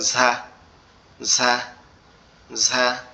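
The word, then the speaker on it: ز: পড়বে, পরে আওয়াজ হবে ঝা ঝা ঝা। তাহলে হচ্ছে জিহ্বার আগা সামনের উপরের দুই দাঁতের মাড়ির সঙ্গে লাগায় আওয়াজ হবে কিরকম ভাবে? আওয়াজ হবে একটু ফ্যাস ফ্যাস মতো, আওয়াজটা হবে হালকা একটু ফ্যাস ফ্যাস মতো, ঠিক আছে?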